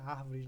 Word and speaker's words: árvores: que a palavra seria árvores, né? Acentuada. Então, árvores, no caso, 1, 2, 3, está na terceira sílaba, antepenúltima, é uma proparoxítona. Eu sempre devo acentuar uma proparoxítona.